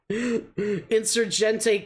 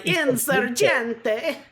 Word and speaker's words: Insurgente: Insurgente combat added to home cities. That's, I'm assuming, 15%. Don't pronounce it like that. You'll offend all the Spanish speakers. Los Hispanohablantes. I'm sorry. Insurgente. Okay. Gente. Insurgente. Okay.